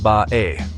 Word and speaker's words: Bay: The name of the town of Bay is pronounced Bae by locals, a sound that could easily have been written down as Maai by Hokkien-speaking Chinese traders.